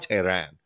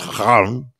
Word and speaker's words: Tehran: It's not Tehran. It's Tehran.